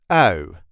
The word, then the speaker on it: ui: We pronounce this as ui, ui, ui.